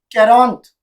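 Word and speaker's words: quarante: So example देखेंगे, कैरॉन्थ which means 40, कैरॉन्थ। तो यहाँ पे हमने क्या यूज किया है? क्यू यू ए। तो साउंड क्या है हमारा? के का साउंड है।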